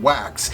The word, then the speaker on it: Waks: Ken Wax, or as I prefer to pronounce it, Ken Wax, is the Chicago-based co-founder of a company called Foresight.